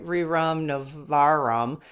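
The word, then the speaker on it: Rerum Novarum: I'm not pronouncing this right. Rum Novarum.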